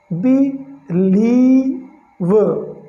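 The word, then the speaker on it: believe: और एल आई ई, तो एल का ल हो गया और आई ई का बड़ी ई का उच्चारण हो गया, बी लीव, राइट।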